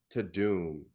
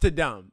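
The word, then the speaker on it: Tudum: But I think it's supposed to be pronounced Ta-Dum, okay? Right. Because that's what the Netflix sounds like.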